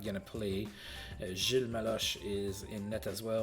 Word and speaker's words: Gilles: Battle of the Gilles. That's how you say it in French. The S is silent.